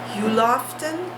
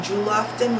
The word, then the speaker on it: Juloften: name of them are Huloften, because I've been calling them Juloften with a J, but I think the J is silent.